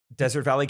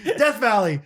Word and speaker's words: Death Valley: didn't say it right what is the real way to say that desert valley california you think it's called you think it's desert valley okay guess not sorry death valley oh stupid stupid um